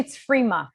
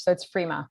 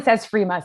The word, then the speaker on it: Frimas: Yeah, no, actually it's Frima. We don't pronounce the S in French, so it's Frima. But everyone says Frimas, so don't worry about it.